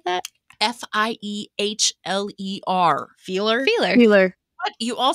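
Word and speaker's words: Fiehler: Because in German, when the I and the E, you always pronounce the second one but like what it looks.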